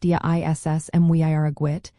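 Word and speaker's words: Dia is Muire dhuit: The common response you might hear is Daya is Muhirgwid, pronounced Dia Iss Mwiragwit, meaning God and Mary be with you.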